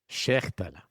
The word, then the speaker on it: Schechtele: Schechtele. Yeah. And It's not. Right. As much throat clearing as you can.